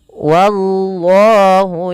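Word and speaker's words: والله: Lanjutnya, wallahu yakhtassu bi rahmatihi man yasha. Pada lafal wallah hati-hati jangan menebalkan wanya, tapi dia tipis. Wallah baru Allahnya tebal.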